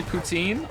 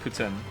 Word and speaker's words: poutine: good but it's not pretend some people say poutine I said poutine for a long time sometimes I still do say poutine but apparently it's actually pronounced Putin Lily wants to move to Montreal and I'm